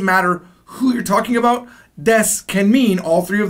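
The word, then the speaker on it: です: is called death now death even though it's written as Desu it's going to be pronounced like death this is the most natural way to say it so I want you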